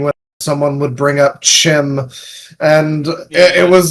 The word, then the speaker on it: CHIM: Chim, pronounced chim, is essentially the characters in the game becoming aware that they're actually in the game.